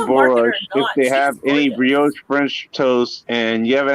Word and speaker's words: brioche: eat carbs anymore so brielle's french toast is great but you say it right it's brioche also uh i'm tired i'll